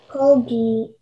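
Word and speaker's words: kalgi: Colgi. May I please have all of the information? Yeah, so the only pronunciation is colgi.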